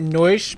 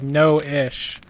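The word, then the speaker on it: Noishe: mom and noise actually I've been saying it noise but apparently it's Noah SHhhh so you actually pronounced like no ish I always just say no leash so I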